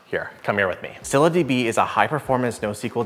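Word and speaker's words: ScyllaDB: eyes set on another database years ago called Cilla DB and yes that's actually how it's pronounced here come here with me cylindb is a high performance nosql database yup I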